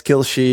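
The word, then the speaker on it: Kalshi: think Kelshi yeah it's Kilshi is like a it's everybody pronounces it differently but basically it's Arabic for Everything everything.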